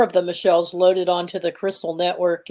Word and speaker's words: Michall: You pronounce her name Michall? Michall. Okay. Yeah. She's she's in Israel and she's got that cultural background, so she has a different pronunciation of her name.